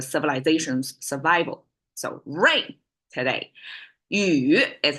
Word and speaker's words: 雨: essential for the civilization's survival so rain today you is how Chinese pronounce it and how Chinese visualize it conceptualize